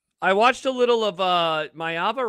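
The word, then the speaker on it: Maiava: I watched a little of Mayava, right? That's how it's pronounced.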